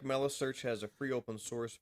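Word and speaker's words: Meilisearch: Gavin in the chat is telling us it's Melissearch, like smelly. Oh, so Melissearch.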